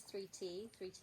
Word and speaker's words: Thrity: is 3 um I write it as a three in a t because that's how it's uh pronounced and spelled like the word 30 with the I or the other way around I have very various